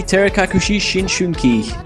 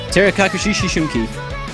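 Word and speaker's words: 照れ隠し思春期: And looks like our next map is going to be Terekakushi Shishunki. Yes, I rehearsed pronouncing that one. Say it again. Alright. Terekakushi Shishunki.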